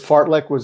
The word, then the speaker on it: Fartlek: The concept, it's Fartlek, it's an unfortunate name, but it was a Swedish dude who put it together.